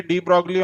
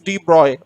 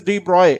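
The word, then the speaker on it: de Broglie: to the throat so i will only say d broccoli only but it's correct pronunciation is d broy okay if in interview you have physics optional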